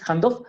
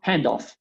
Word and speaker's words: handoff: pronunciado, la primera palabra no es handof, sino handof. O sea, siempre acentuo la primera partícula de esas dos.